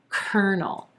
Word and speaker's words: colonel: corn although it definitely looks like there should be three syllables in this word there's only two emphasis on the first syllable and the er as in purple sound cur and then our second syllable is the inconsonant and the dark l mushed up together no no colonel colonel yeah i know definitely one